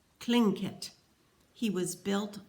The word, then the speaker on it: Tlingit: Garvey said he was a Tlingit Indian, pronouncing Tlingit proudly with a clicking of his tongue, as if saying, Tlingit.